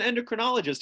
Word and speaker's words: endocrinologist: like I'm an inter I'm an endocrinologist it rhymes with entomologists but you know it's